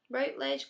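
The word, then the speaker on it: Routledge: book it's published by rout ledge rout ledge classical translations yeah ledge that's how you pronounce it and then I did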